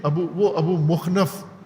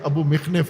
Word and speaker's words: ابو مخنف: ہے۔ ابو مخنف نے ابو مخنف تلفظ کرتے ہیں، ابو مخنف ہے اس کا نام، ابو مخنف ابن لوط